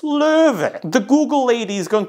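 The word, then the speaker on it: Löwe: is like you are on crack please it's lur the Google lady is going to tell you how to pronounce it lur if there's one thing you take away from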